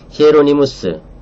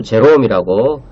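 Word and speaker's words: Hieronymus: 구속언약 교리는 제가 앞에서 잠시 지적했던 것처럼 히에로니무스, 교부 제롬이라고 영어로는 읽죠. 그 원음은 라틴어 원음은 히에로니무스라고 읽는 것이 좋습니다.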